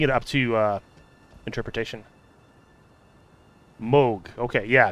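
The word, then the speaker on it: Mohg: interpretation moog okay yeah cause it's like you would pronounce o like o h you pronounce o so if you put an m in front of it and a g behind it's still moog moog be wary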